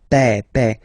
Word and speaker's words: père: Remember, E accent grave like that. It's this open E. Père.